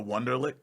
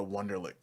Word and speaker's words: Wonderlic: Is it spelled like a last name? Like Wonder It's W- LIC. Yeah. what? No, Yeah, it's weird. It's WU. Oh, it is. You're right. WU is German. Yeah, I was thinking it